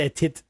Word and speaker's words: était: I believe it's actually called Il était voir le diable.